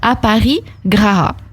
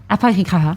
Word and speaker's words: Aparigraha: Comment on prononce ça, Anne-Sophie? Aparigraha. Aparigraha, très bien.